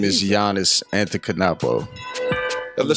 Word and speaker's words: Antetokounmpo: Yeah, it's Antetokounmpo.